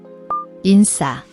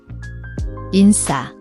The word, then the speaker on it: 인싸: The in has a final end sound that connects smoothly to the SSA. The is a tense SS sound, like the S in sip but with more tension, no SH.